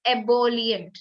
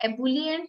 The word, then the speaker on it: ebullient: The correct pronunciation is ebullient, not ebullient, not ebullient. Ebullient, okay?